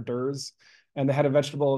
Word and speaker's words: DER: in this area and they pronounced the acronym de dur and they had a